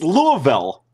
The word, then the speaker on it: Louisville: It's Louisville. I always said Louisville.